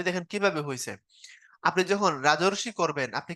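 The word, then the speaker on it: রাজর্ষি: না লিখবেন হচ্ছে ঋষি তখন উচ্চারণ যখন করতেছেন রাজরশি রাজরশি দেখেন একটা অরধনি হচ্ছে না অর হচ্ছে সমান সমান হল রাজরশী এখন এই কথাটা উপরে লিখছে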